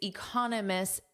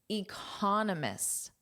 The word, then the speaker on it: economists: Economists. Economics. Economists. So, the syllable stress is different here. You can say I'm an economist. So con is what you hear the most.